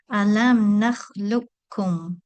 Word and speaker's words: alam nakhluqkum: So the letter qaf is not pronounced, and we go straight from the letter lam to the dhamma on the letter kaf. Alam nakhluqkum. Then the third example, if